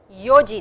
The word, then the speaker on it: yo-ji: Yoji desu. Goji desu. Rokuji desu. Shichiji desu. Hachiji desu. Kuji desu. Juji desu. Juichiji desu. Juniji desu. Please pronounce these two, yo and shichi, as is written over